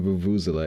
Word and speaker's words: vuvuzela: Your South African stepfamily cringes in your pronunciation of vuvuzela.